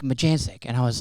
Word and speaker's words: Majancsik: Because I have never heard it pronounced ever. And I He was like, "Majanic."